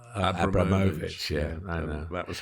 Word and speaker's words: Abramovich: Yeah, I was instructed early on. It was Roman Abramovich.